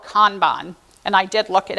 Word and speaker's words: Kanban: One is called Kanban, and I did look it up on how to actually pronounce that word. It is originally is a Japanese word, and it's Kanban in real life.